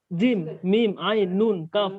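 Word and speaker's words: ق: জিম নুন আইন নুন কফ মিম লাম ইয়া সিন হ্যাঁ এটা কফ না তো ভাই, এটা কাফ। কাফ কাফ এটা উচ্চারণ কি খাফ হবে? খাফ খয়ের মতো খাফ না, খাফ না, কাফ কাফ।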